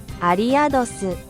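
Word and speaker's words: アリアドス: Arios' Japanese name is exactly the same as its English one. They just say it like this. アリアドス And it's likely derived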